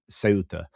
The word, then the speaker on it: Ceuta: A Spanish call it Feuta, um if they are from so of most of Spain, but then Andalusia I said pronounces a th, but they don't. It's the other way around and they would pronounce it um, Ceuta.